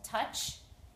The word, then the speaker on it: touch: is the word touch there's two vowels but only the u makes a sound the o is silent so i just put number one for one syllable touch and then i spelled